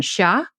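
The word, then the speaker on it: siya: languages so for example the third person pronoun sha which is spelled s-i-y-a is used for he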